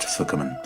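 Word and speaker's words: 覆面: The regular word for mask in Japanese is pronounced fukumen, but is written in kanji characters that mean masks for covering.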